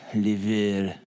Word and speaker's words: livre: It's pronounced Livra. Like Libra, but with a V.